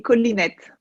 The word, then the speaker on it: Colinet: Alors aujourd'hui, je suis très très heureuse parce que j'ai comme invitée Hélène Collinet. Je le prononce à la française. Est-ce qu'on dit Collinet en catalan, Hélène? En catalan, on dit collinette.